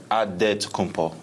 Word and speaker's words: Adetokounmpo: In the Nigerian way, you gotta say with a D, so it's Adetokounmpo.